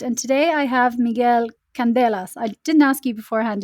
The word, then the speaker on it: Candelas: for another episode and today I have Miguel Candelas I didn't ask you beforehand if that's how you pronounce your surname but you're very welcome today